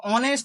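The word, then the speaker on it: honest: Number 3 দেখো অনেস্ট ম্যান, এখানে হনেস্ট ম্যান বলি না আমরা, হনেস্ট ম্যান নয়, অনেস্ট ম্যান। তাহলে এই এইচটা সাইলেন্ট, এইচ এর ওয়ার্ডটা কিন্তু সাইলেন্ট, তাই এখানেও আমাদের অ্যান এর ইউজ হবে।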